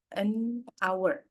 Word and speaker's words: hour: itu karena dia Silent Age maka kita gunakannya hour seperti itu ya gu nanti ini apakah bisa